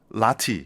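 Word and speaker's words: Lotte: 에이, 이게 정확히 영어로는 라티 이렇게 발음하거든요.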